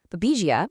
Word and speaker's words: Babesia: Babesia, pronounced Babesia, is a tick-borne parasite that affects wild animals.